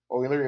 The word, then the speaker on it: Euler: Euler is a very popular guy in math, and you have to pronounce his name correctly. So you pronounce it like Euler, O-I-L-E-R, but it's spelled, differently.